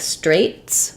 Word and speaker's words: Straits: the S sound um this is kind of a strange spelling it's the same as this word like um something is straight or straights I mean Dire Straits